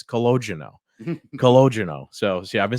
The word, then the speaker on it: Calogero: The new full-time brand is called the Bronx Tale Calogero, named after Palminteri's grandfather, similar to the wine. So wait, then these are the oh no, yeah, this is what we're talking about. Yeah, Calogero.